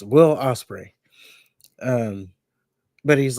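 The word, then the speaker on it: Will Ospreay: So golly, I know how to say his name. I promise. It's Will Osprey.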